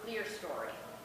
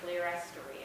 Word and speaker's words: clerestory: And no clerestory, or clerestory, I've heard it pronounced.